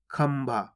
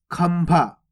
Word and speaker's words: खंभा: पा, फा, बा, भा, ये भा गया, तो यहां पर अपन आधा माँ का उच्चारण करेंगे। किस प्रकार से? इस प्रकार से, खंभा। कैसे पढ़ेंगे इसको अपन? खंभा। खंभा। आधा माँ का उच्चारण करेंगे, खंभा।